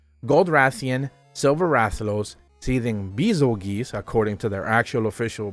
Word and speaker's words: Bazelgeuse: Gold Rathian, Silver Rathalos, Seething Bazelgeuse, according to their actual official pronunciation, Scorn Magnamalo, Furious Rajang, and Flaming Espinas.